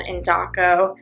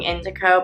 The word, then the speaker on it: Indaco: Yesterday, we had a great dinner at a restaurant called Indaco. And I asked them how to pronounce it because I was thinking Indico, but she said it's Indaco. And they have great Italian food.